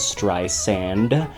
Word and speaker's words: Streisand: her name which is Dr sand soft s like sand on the beach um but what was